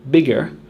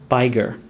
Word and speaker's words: bigger: We need to add the second G to the word bigger, or else it would be pronounced biger. We aren't trying to change the vowel pronunciation, just the ending sound.